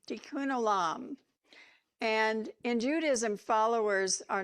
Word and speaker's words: tikkun olam: It's pronounced tikkun olam, tikkun olam.